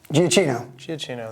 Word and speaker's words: Giacchino: This was not a John Williams score, and he had only, I always say his name wrong, Michael Giacchino, there you go.